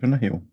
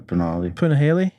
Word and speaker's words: Punahele: Punahele or Punale? Punahele. Something like that.